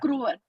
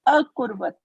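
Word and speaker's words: अकुर्वत: akruvat. Akruvat. Okay. And what is here? Akruvat. What is here? Kurvat. Sorry. Akurvat.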